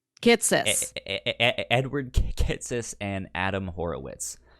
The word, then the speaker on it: Kitsis: I'm getting all the syllables jumbled up. Kistis and Horowitz? Yes. Okay. Kitsis.